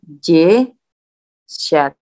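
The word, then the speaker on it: десять: Jeset itu penekanannya dia, jadi dia kan nggak kena penekanan ini. bacanya jeshat. Sorry. Nggak bisa nulis, sini aja deh, jeshat. Gitu. Jadi kalau dia nggak kena penekanan, pada umumnya sih seperti itu.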